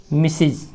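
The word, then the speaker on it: Mrs.: और यह है मिसिज, इसका उच्चारण है मिसिज। नुक्ता दे देने का अर्थ हुआ कि जेड जैसा उच्चारण है इसका, नहीं देंगे तो ज, नुक्ता दे दिए तो जेड, नहीं दिए तो ज जैसा उच्चारण, मिसिज।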